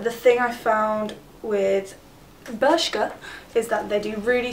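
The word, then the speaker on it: Bershka: love it from Burkshire Burkshire is that how you say it no it's berska bur it's from berska um and it's got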